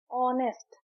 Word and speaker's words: honest: एन ए एम आई तो यहां पे टी साइलेंट है ऑनेस्ट हम लिखते हैं एच ओ एन ई एस एस टी ऑनेस्ट पर जब हम इसे कहते हैं तो हम